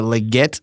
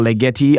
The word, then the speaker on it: Legette: and Carolina pandas took Xavier Legette or Leti I think it's pronounced I haven't had a